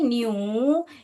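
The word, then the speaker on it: knew: ही है इफ ही न्यू यहां पर के साइलेंट है बेटा ई डब्लू को यू यू पढ़ते हैं हम न यू के साइलेंट है इी न्यू न्यू क्या है नो का पास्ट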